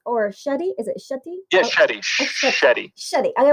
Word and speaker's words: Shetty: say with an S or Shetty is it Shetty yeah shett shett shett I want to make